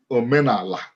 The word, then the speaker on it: Omenala: and type in Omenala, it's either pronounced with an L or an N, Omenala.